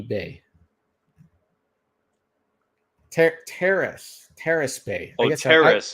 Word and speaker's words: Terrace Bay: Terrace Bay. I Oh, guess Terrace. I'm Okay, not saying it right. I'm saying it with my Canadian accent. Terrace Bay. I'm saying Terrence.